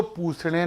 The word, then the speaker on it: पूषणे: बोल रहे हैं तो पूषणे नमः भी बोला जा सकता है। संस्कृत में षट्कोण वाले स को ख का उच्चारण करते हैं। इसलिए मैं ओम पुखड़े नमः का जाप करता हूं।